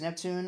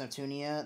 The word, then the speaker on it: Neptune: Also, her name is Neptune, not pronounced Neptunia. That mistake happens all the time.